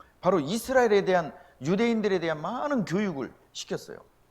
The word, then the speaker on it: 유대인: 우리 유태인, 원래는 유대인입니다. 원래는 유다인이었다가 유대인으로 발음하다가 이제 한국 사람들은 발음이 세니까 유태인 이렇게 하는 거예요.